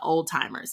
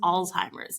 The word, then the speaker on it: Alzheimer's: "Oh, she got that old timers," and you're like, first of all, that's not how you say it. It's Mm. Alzheimer's.